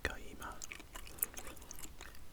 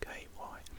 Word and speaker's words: Kyeemagh: Now this is called Kyeemagh. I think that's how you pronounce it. There we go. Kyeemagh.